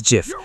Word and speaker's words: GIF: Its creator says it should be pronounced as GIF, but a large part of the world says GIF like gift.